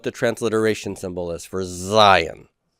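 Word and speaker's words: Zayin: That is not really, no, that our English pronunciation, Zion, matches what the name of the letter is, but it's not the word Zion in Hebrew. In Hebrew, it's Zion.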